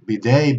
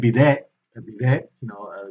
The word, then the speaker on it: bidet: okay it comes from French and therefore we pronounce a or b de bidet bidet toilet in Spanish be they the same Oh